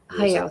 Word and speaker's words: Hayao: Also, I'm going to pronounce this wrong. Hayao Miyazaki. Miyazaki. Hayao. Hayao. Hayao, thank you.